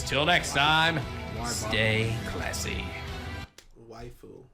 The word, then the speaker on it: waifu: Waifu, not wafu.